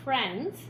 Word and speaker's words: friends: I-E is a vowel team here, and it says eh, a short E sound, friends, and that is a vowel team syllable pattern.